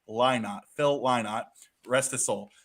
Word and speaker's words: Lynott: And since everybody's getting after me for the pronunciations, for those out there, it's Lynott, not Linnet or Lynott. It's Lynott.